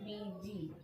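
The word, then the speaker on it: busy: यहाँ BU को बू नहीं पढ़ेंगे, यहाँ BU को पढ़ेंगे बी। या आप ये बोल सकते हैं कि खाली बी को बी पढ़ रहे हैं, यू जो है आपका चुपचाप साइलेंट से प्यार से बैठा हुआ है ना। एस को बोलेंगे ज और वाई को बोलेंगे ई, बीजी।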